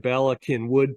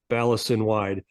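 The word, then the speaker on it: Bala Cynwyd: the Bala Plaza in balakin Wood PA which is one of the hardest things to pronounce if you look at it phonetically it looks like sin wide balis sin wide uh that 1.1 million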